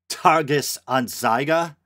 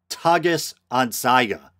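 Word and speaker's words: Tages-Anzeiger: language and he says the name of this Swiss newspaper is pronounced Targus on Saiga togas on Saiga is that it Tim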